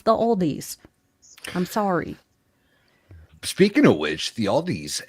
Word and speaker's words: Aldi: to call it the Aldi's. Now, I understand from Baker and it hurt his soul that is pronounced Aldi and there is no the or an S at the end, but if you're in the Midwest, it becomes the Aldi's.